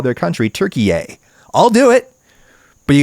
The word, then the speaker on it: Türkiye: Do actual Turkish people want people like me to actually call their country Türkiye?